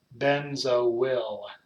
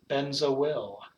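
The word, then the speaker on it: benzoyl: you can keep replaying this over and you pronounce this benzo will benzo will that's how you say it bends a will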